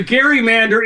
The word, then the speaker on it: gerrymander: So, well, the gerrymander is a problem, and it's Gary with a hard G. It's named for Elbridge Gerry of Massachusetts.